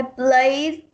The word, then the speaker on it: played: I played the piano yesterday. Okay, the ed over here sounded like d only. Okay, you will pronounce this as played.